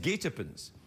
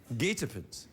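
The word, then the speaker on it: guetapens: year there that that's the winning word it's pronounced gatopens gatopants it means a trap or ambush i thought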